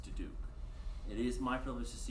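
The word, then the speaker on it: Diduch: For the record, my last name is spelled D-I-D-U-C-H and pronounced DeDuke.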